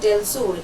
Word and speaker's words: del Sur: ओसिडेंटल, and Sierra Madre डेल सुर, इसको डेल सुर भी बोला जाता है और डेल सार भी बोला जाता है, लेकिन स्पेलिंग है SUR, डेल सुर।